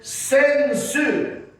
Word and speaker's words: sensu: In Japanese, we call this sensu. Sensu. Yes, very good pronunciation.